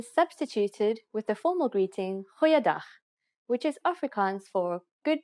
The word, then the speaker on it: Goeiedag: Goeiedag, ek is Anne-Marie Luck. Aangename kennis. Let's try that again. G. Try pronouncing it from the back of your throat. Goeiedag.